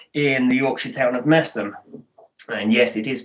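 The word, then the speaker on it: Masham: and brewing family in the yorkshire town of massam and yes it is pronounced massim um fixturns uh the older among you will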